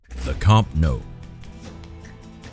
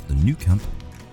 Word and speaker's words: Camp Nou: The Camp Nou. Incorrectly pronounced in English as the Nou Camp, this is home to FC Barcelona, one of the world's powerhouses in football.